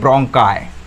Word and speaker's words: bronchi: तो ये जो डिवाइड हो गया ना, इसको बोलते हैं ब्रोंकाई। क्या बोलते हैं, ब्रोंकाई। लेट me check the spelling for यू, BRONCHI, ब्रोंकाई।